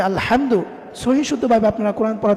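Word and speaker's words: الحمد: কিন্তু আপনি যদি আলহামদুর জায়গায় বড় হা, এই জায়গায় যদি আপনি ছোট হা দিয়ে পড়েন আলহামদু পড়েন, অনেকে এটা করে যে উচ্চারণ করতে পারেন আলহামদুর জায়গায় আলহামদু পড়ে। অথচ আপনি যদি আলহামদু পড়েন তাহলে এটার অর্থ এসে যাবে যে সমস্ত ধ্বংস আল্লাহর জন্য।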